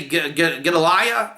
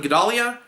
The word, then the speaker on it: Gedalia: not yet you know when they say get Alaya instead of gedalia right and and instead of Shabbos is the Sabbat all the mispronunciations and the Jews feel